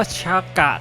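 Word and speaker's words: シャカ: เขียน อย่าง นี้ ครับ ออก เสียง เหมือน กับ คำ ว่า ชากะ คำ นี้ ที่ แปล ว่า พระ พุทธองค์ ซึ่ง ก็ มี ความ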